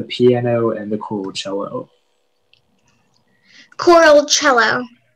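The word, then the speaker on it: choralcelo: uh your word is coral cello cello may i have all the information yeah so the only pronunciation is coral cello it's a noun and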